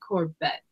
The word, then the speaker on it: Corbett: Mark said his last name is pronounced Corbett. Easy if you break it up.